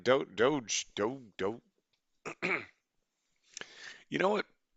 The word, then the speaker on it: doge: time we ever saw the word d-o-g-e but it was pronounced dog he was just like